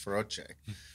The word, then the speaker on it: Feroce: americanized but he was like yeah it's actually pronounced ferocious i'm like what is going on right now